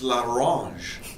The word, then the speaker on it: l'orange: I learned how to pronounce that. It's l'orange. Okay, duck l'orange.